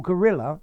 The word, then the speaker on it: guerrilla: okay so yes your gorilla the original meaning is a revolutionary yeah it does sound exactly like the animal but it's spelt very very differently um as to formality